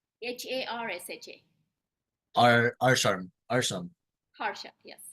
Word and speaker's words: Harsha: name is ARA Hara Aram how do you spell that a r s h n h a r s h a AR Aram Aram Haram yes I har okay